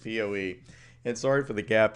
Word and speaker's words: PoE: sorry what oh that Poe excuse me well here's your first lesson on power over ethernet you don't pronounce it po you do pronounce it Poe and sorry for the